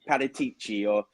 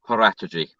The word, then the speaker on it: Paratici: But I'm just going to say, for the record, well done to Dele Alli and Paratici, because to get him on board was a massive strategy.